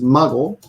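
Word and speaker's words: 孫: So this second kanji here can be pronounced as mago, which is grandchild.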